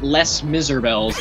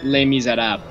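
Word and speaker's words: Les Misérables: do you pronounce it yeah that's how it's pronounced it's not les miserables it's okay we'll say that and it gets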